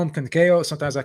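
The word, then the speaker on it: Conceição: it's it's it's kakayo sometimes i call him kankao sometimes i call him kakayo so you know i apologized for earl earlier i have a hard time with this name for whatever reason so it's kakayo you know and um you know so i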